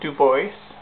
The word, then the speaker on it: Dubois: Uh, it was custom made for me by a friend James Dubois or as he pronounces it, Duboce.